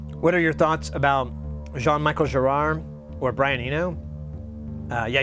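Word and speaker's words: Jean-Michel Jarre: an affectionate term what are your thoughts about Jean Michael Gerard or Brian Eno uh yeah you pronounced it right oh thank you good I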